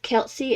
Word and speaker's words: Kelsia: The second pattern I tried was Mochi Monsters by Crochet with Kelsey, and that is spelled Kelsia, and both of those patterns will be linked.